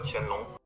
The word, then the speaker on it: Qianlong: Chinese Emperor Qianlong. 그렇게 발음한다는데 우리는 그냥 걸륭제라고 하겠습니다.